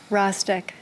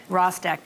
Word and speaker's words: Rostek: How do I pronounce that? Rostek. Rostek.